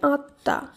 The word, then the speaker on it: আত্মা: পরবর্তী শব্দ আ তয়ময় আকার, এর শুদ্ধ উচ্চারণ হবে আত্মা, আত্মা নয় আত্মা।